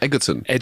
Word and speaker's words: Egerton: Is it Egerton or Egerton? Egerton. Yeah, I think I got in trouble for saying it wrong because I did a bit of promo once.